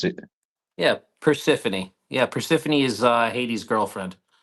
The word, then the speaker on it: Persephone: I come up in that chat, and I always wonder how to bloody pronounce it. Yeah, Persephone.